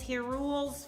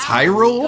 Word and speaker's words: Hyrule: This is Hule's final hope. What? You don't know how to pronounce Hyrule?